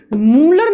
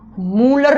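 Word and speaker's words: Mulder: तो बच्चों यहां पर मूलर नाम के साइंटिस्ट इंग्लिश में एम यू एल डी ई आर लिखा जाएगा। लेकिन जब हिंदी में लिखोगे या प्रोनाउंस करोगे तो आप इसको मूलर नाम दोगे।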